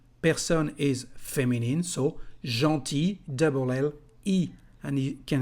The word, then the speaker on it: gentil: The masculine form is just gentil, with one L, but you don't pronounce it.